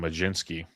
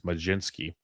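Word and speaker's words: Mlodzinski: Carmen Carmen Madzinski, sorry. I heard it's actually magician Majinski is how you pronounce it. Uh heard that one from good old Jeff Ericson. Just think magician. It's Majinski.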